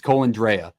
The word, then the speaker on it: Colandrea: No, it's not. It's Colandrea. I watched because let me talk to you. I reached out to Matt Neverett, the radio voice for the UNLV Rebels, and he told me the pronunciation, and we talked at UNLV football.